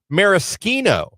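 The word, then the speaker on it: maraschino: You're pronouncing it wrong. It's Marisino. Oh. Oh, is that how it said? Mariskino.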